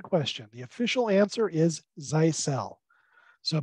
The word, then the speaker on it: Zyxel: the official answer is zeisel so basically change that X into an S and that's how you get the pronunciation that comes from the